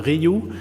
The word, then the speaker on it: Rioux: my name is ryu pronounce it like ancient ryu from the e dodgers so in french i-i-o-u-x is like the letter y so i'm the founder